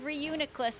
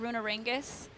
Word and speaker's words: Reuniclus: I would say uh oh no I couldn't say Reuniclus and then I would just call it Runar ringus it's a Hector you